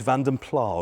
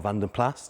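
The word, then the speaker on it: Vanden Plas: the test Wheels but it's vandom pla or vandom plas depending on how you like to pronounce it I'm not here to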